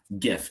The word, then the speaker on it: GIF: GIF. It is pronounced a GIF, though. I will say that it's not GIF.